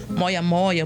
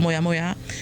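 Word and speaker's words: moyamoya: que é conhecido como moia moia moia moia né os médicos usam essas duas pronúncias alguns usam como moia moi outros moia moá então é um é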